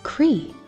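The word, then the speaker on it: croí: Irish are you ready in Irish heart is Cree can you say it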